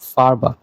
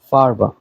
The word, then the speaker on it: Farbe: যার অর্থ রং রং একটা জিনিস মাথায় রাখবেন এখানে এর এটা চেষ্টা করবেন গলা দিয়ে উচ্চারণ করতে নট ঠোঁট দিয়া হুম কেননা ডয়ে এর উচ্চারণটা এমনই যে ওরা ডিরেক্ট ঠোঁট দিয়ে বলে না ওরা গলা থেকে উচ্চারণ করে ইভেন 90% কেসে এর উচ্চারণ হয়ই না হুম তো এটা চেষ্টা করবেন এর উচ্চারণটা ভিতর থেকে গলা থেকে আনার আপনি ট্রান্সলেটর বা গুগল থেকে দেখেন অডিওটা দেখবেন যে এর পুরাপুরি উচ্চারণটা করে না তো আমার ক্লাসে এর